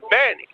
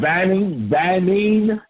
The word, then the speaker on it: Benny: All right, Banning. Or Banny. Banny. Like homie, Banny. Spell it for me, please, sir. Like Lenny. Benny. Oh, Benny. My name Benny. Oh, like Benny Hill.